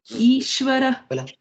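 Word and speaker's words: ईश्वर: So, Ishvara, and again, E, okay? Long E.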